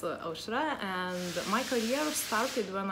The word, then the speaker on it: Aušra: So, you're pronouncing well my name. My name is Aušra. Ah, okay. Yeah, it's Aušra, and my career started when I was studying at university.